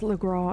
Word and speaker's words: Lagras: It's Le Gras and Le Cay, as far as I know. However you're British you want to and pronounce it, yeah. yeah, I'm British and I pronounce it correctly.